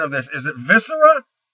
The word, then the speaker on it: Viscera: Is it Viscera? I think we have decided collectively on using Visera, which is the Danish Latin pronunciation.